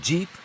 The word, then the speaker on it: Jeep: En anglais, General Purpose, GP, GP, prononcé Jeep, le nom est trouvé.